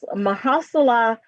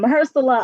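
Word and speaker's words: Mahershala: we all know this guy um oh maha mahala ali i know i did not say his name right and i practiced too um maher salah ali became the first muslim american to win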